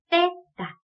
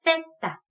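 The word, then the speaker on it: zeta: 이 세타 같은 경우에도 앞서서 봤던 세처럼 스페인 현지에서는 th 발음을 해줘야 되기 때문에 떼다 이렇게 돼요. 해볼까요? 떼다.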